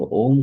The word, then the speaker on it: ओम: ओम का उच्चारण करेंगे इसमें तीन लेटर का इस्तेमाल रहता है अ उ और म यानी पेट से स्टार्टिंग में जब ओम का उच्चारण शुरू करेंगे तो आपका